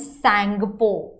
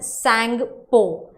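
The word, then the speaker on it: Tsangpo: वो साइड जो फ्लो होती है it becomes सैंगपो, टी is silent over there, okay, it's known as सैंगपो।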